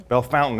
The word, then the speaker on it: Bellefontaine: If you go to Bellefontaine Cemetery, Bellefontaine as the locals say, right, it's a great